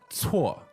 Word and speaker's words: 错: So C-U-O is pronounced 错. So you got to get used to how the C is pronounced in Chinese pinyin.